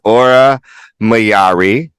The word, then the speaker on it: Aura Mayari: 40 inches who cares Queen number three was aura mayari yes pronounced right she is from Nashville Tennessee now